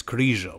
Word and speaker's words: Krizo: Americans call him Michael crio but I can't make myself pronounce his name wrong it's mikal and it's crio but whatever 10 days after